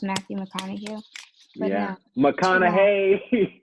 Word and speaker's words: McConaughey: no, McConaughey. It's McConaughey. McConaughey. I am telling you. That's his accent. McConaughey. Like he says, all right, all right, all right. That's how he pronounces it.